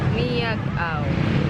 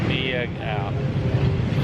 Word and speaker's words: Miagao: Miagao. Miagao.